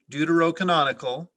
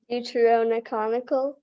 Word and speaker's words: deuterocanonical: books of the bible many protestants consider the deuterocanonical books in roman catholic bibles to be apocryphal there is an alternate pronunciation due to rhonichonical um can you say it again due to rhona conical deuteronomical no due to roe canonical deuterocanonical there you